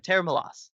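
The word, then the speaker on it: Tera Melos: pedals like this band uh tara milos yeah tara milos yes that's how you pronounce it it's a weird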